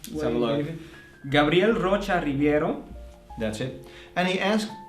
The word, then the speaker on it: Gabriel Rocha Ribeiro: Can you pronounce it right? Let's have a look. Gabriel Rocha Ribeiro.